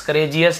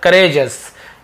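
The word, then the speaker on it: courageous: Valiant, bold और करेजस, करेजस, करेजियस नहीं, करेजस यानी कि बहादुर होना, वीर होना।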